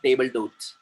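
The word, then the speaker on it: table d'hôte: टेबल डोट, टेबल डोट, टेबल डोट, टेबल डोट, एलाकार्ड, टेबल डोट, एलाकार्ड, टेबल डोट।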